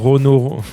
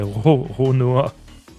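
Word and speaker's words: Roronoa: Je fais chaque fois de la dyslexie, je dis toujours Rono... c'est Ronoa.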